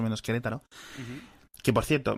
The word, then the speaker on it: Querétaro: que por cierto, me he tirado toda la vida leyéndolo como Querétaro, y ya desde hace 5 o 6 años te escuché pronunciarlo por primera vez y era Querétaro, y aún así Sí.